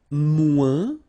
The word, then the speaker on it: moins: And then, moins, same thing here. Remember, we don't pronounce the final S.